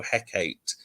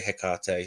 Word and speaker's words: Hecate: that say like how Shakespeare said you know Hecate you know that and I suppose there's no right right or wrong way if it works for you but I say hiar so so then how do you pronounce the